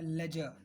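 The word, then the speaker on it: ledger: ऐसे ही अकाउंट्स में एक टर्म है लेजर, लेजर तो इसमें डी साइलेंट, लेजर हम लोग बोलते हैं, राइट।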